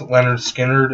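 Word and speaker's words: Lynyrd Skynyrd: might get the first um two albums it's pronounced leonard skinner and um secondhand helping leads up on four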